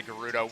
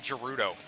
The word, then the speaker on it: Gerudo: I've actually had to train myself to say Gerudo. We had never said it out loud and I realized that everybody pronounced it a different way. I was always saying Gerudo.